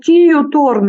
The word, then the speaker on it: Kiiu Torn: Kiiu Torn, yeah. Kiiu Torn. One good thing about Estonian language is that it's very easy to read. You just read it like it's written.